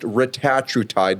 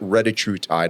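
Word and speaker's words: retatrutide: It's actually It's pronounced retatide, not reatride.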